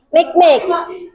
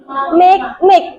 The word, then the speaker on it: Makemake: Selanjutnya ada planet kerdil Makemake. Makemake bacanya. Makemake. Bukan make-make gitu, bukan ya.